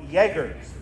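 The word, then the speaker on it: Jäger: Riflemen what are called Jaegers the word is spelled j-a-g-e-r there's an um loud stops over the egg the word Jaeger in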